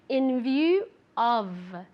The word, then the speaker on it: in view of: Okay, careful with the pronunciation. View with the V sound, moving your vocal cords, and of really as if it were a V, an English V, okay?